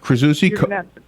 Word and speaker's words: Krzyzewski: Number 16 on the list is Mike, help me pronounce this name, Krzyzewski? Mike Krzyzewski, Coach K.